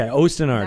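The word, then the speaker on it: Osten Ard: fantasy, I'm very excited that you're back into Ostenard. Did I say it right? Yes, you did. Okay, Ostenard.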